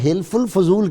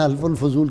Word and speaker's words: حلف الفضول: وصحبه وبارك وسلم۔ جی، یہ حلف الفضول کہتے ہیں، حلف الفضول کہتے ہیں، تلفظ آپ درست کر لیں۔ بسم اللہ الرحمن الرحیم۔